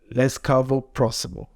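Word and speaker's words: Ласкаво просимо: Laskavo prosimo.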